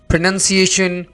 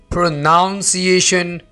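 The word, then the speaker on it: pronunciation: प्रोनंसिएशन प्रोनाउंस एशन प्रोनाउन मैंने बहुत सारे स्टूडेंट्स को यह वर्ड बोलते हुए सुना है वो पता है कैसे बोलते हैं प्रोनाउन प्रोनाउंस एशन friends this is नॉट प्रोनाउंस एशन यहां पर आपने आवाज ऐसे नहीं निकालनी जैसे तो फ्रेंड्स हमारे पास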